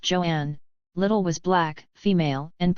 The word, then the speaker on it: Joan: weighing barely 120 lb Joan pronounced Joanne little was black female